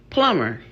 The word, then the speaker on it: plumber: Number two, plumber. Why is that B there? B serves absolutely no purpose whatsoever.